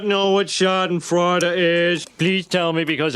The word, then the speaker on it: Schadenfreude: Nih, kalau ribet nyebutnya pelafalannya seperti ini nih. Schadenfreude. Schadenfreude.